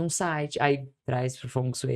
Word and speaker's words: Feng Shui: eles já falavam do Feng Shui, né? Ou Feng Shui, que eu descobri que é assim que pronuncia, né, gente?